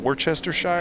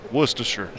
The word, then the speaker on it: Worcestershire: you, and I was like, "What's this called, Worcestershire?" And you're like, "It's Worcestershire."